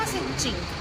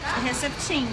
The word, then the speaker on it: Herceptin: Herceptin ou Herceptin? Como é que pronuncia? Aqui no Brasil o certo é Herceptin, mas lá fora a gente fala Herceptin.